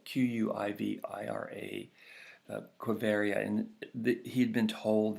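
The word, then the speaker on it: Quivira: you can see it on the map it's it's spelled qu IV IRA Cove area and that he'd been told that this was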